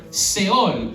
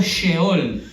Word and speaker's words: Sheol: Seol, o para ser más bíblico, Sheol. Ahora, el griego equivalente es Hades. ¿Se pronuncia la H o es silenciosa?